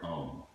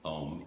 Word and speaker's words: Om: is, there's this word Om. It's called the four-syllable word. It shows up in Hinduism and Buddhism. It is called the sound of the universe. It's comprised of A, U, M, and Ah starts at